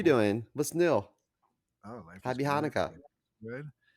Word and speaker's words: Hanukkah: of kanuka and uh I think it's pronounced chanuka chanuka that's right sorry I apologize you are correct it is chanuka wow that's what I